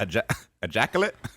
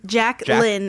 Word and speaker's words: Jacqueline: It's got a qu. It's a qu. You're saying it like ejaculate? Yeah. A jackallet. Just fine. Or Jacqueline. Jacklin is how I say it.